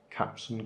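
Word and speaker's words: Kapton: tape is covering and remember its proper pronunciation captain captain captain tape usually yellow actually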